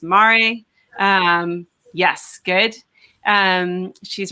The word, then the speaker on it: MARE: She's the Policy and Outreach Director at Marine Research and Exploration, which I think is pronounced Mare.